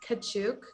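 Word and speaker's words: Katchouk: right now oh yeah boris kachook not kachor yeah okay and taylor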